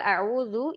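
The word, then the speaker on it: أعوذ: A'udzu, a'udzu, harus dirangkai sebagai satu kata. Jika kita membacanya sebagai a'udzu, hamzahnya terdengar seperti hamzah istifham atau hamzah tanya.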